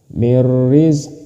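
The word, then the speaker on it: مِن رِّزْقِ اللَّهِ: Mirrizqillah. Seperti itu. Mirrizqillah. Karena ada nun mati bertemu dengan ro, maka ini disebut idgham bila ghunah. Cara membacanya masuk tanpa berdengung.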